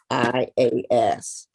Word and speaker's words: Morontia: Morontias. It's like morons.